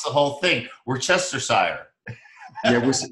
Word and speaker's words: Worcestershire: We try to pronounce the whole thing. Worcestershire. Yeah, Worcestershire sauce.